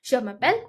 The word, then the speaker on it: je m'appelle: Okay, but in French, they're very particular about the pronunciation. So there are two reasons why there is apostrophe. First of all, the vowels clashing. E and A are vowels, so they're not gonna let them clash.